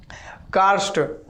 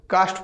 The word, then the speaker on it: कार्स्ट: कार्स्ट, ठीक है, कार्स्ट, इसको उच्चारण ऐसा होगा, लेकिन यहाँ पर आर साइलेंट होगा। अब जब जल्दी बोलिएगा तो इसको कास्ट बोलिएगा, कास्ट प्रदेश, कास्ट प्रदेश, इस तरीके से, लेकिन उच्चारण पर ध्यान देना है, कास्ट नहीं है, ठीक है, कास्ट होता तो इस तरीके से लिखा था, ठीक है, लेकिन यहाँ पर आर लगा हुआ है, तो यहाँ पर हम